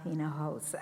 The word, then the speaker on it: Inojosa: he said is inojosa and here it's pronounced in a house and i'm a founding